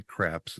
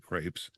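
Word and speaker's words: crêpe: For those wondering, he did not say craps. He actually said crepes.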